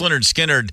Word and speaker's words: Lynyrd Skynyrd: you know the B the band you know pronounced Leonard skinnard I mean I was a little kid when